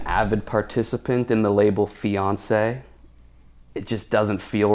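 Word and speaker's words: fiancé: No male fiances in in the Olympics this year, dude. I'm like embarrassed. I'm a fiance, dude. Three syllables. Yeah, French accented one.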